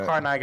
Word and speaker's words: Carnegie: It's pronounced Carnegie. I don't know if you know that. Oh, it's Carnegie. It's Carnegie. Carnegie. Thank you.